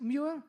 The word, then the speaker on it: Muir: Can we have a brilliant round of applause for JONNY MUIR? Is that how you pronounce it? Muir?